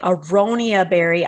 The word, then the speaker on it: aronia: spell it myself and it's ar instead of e-r a-r-o-n-i-a aronia berry and it's not only